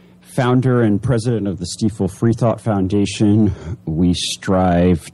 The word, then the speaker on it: Stiefel: here with todd ah is it stifle it is stifle hey it rhymes with gleeful i'm i'm another person